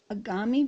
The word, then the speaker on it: agami: or short stories are called agami videos which rhymes with origami the application is called